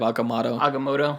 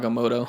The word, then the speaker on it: Agamotto: he starts like tinkering we've been pronouncing it wrong this whole time it's not the eye of agam aoto it's aoto when he when he when